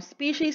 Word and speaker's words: species: So species, again, is always written and pronounced in plural form, always with an S, even if you're referring to one group.